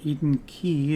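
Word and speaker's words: Eden Quay: Key is next and that's how it's pronounced if you listen to announcement service to the next station is Eden Key yeah see Eden Key looks like it should be like Quay or something like that but of course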